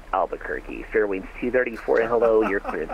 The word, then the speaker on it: Albuquerque: I don't know what to say it it's pronounced Albuquerque Fairwinds 234 hello your clearance is on a